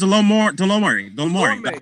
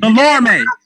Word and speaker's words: Delorme: I remember the guy, Thomas Delomore. Look like you can't even pronounce it. Delorme.